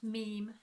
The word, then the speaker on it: meme: What's a meme? Yes, it is pronounced meme, not mem.